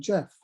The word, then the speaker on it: Gef: he expressed preference for the name jeff which he spelled phonetically gef um he said he